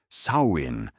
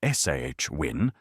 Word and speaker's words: Samhain: Samhan pronounced for those attempting it for the first time somewhere between sawin and swin with all the clarity of Gaelic pronunciation marked the Celtic new year.